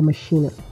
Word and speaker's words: machina: we have d x mackina you can pronounce a last word as minina or Machina d x mackina means